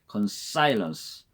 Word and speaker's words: consilience: consilience, consilience, accent on I, C-O-N-S-I-L-I-E-N-C, consilience.